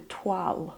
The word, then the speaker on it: toile: making something to fit you might make a twal which is spelled t-o-i-l-e is like a practice garment that